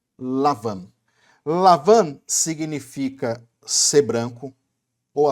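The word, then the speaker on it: לבן: A palavra Labão, meu irmão e minha irmã, no hebraico é a palavra, se pronuncia Lavan.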